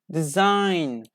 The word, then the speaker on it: design: The letter G is not pronounced when it is followed by N at the end of a syllable.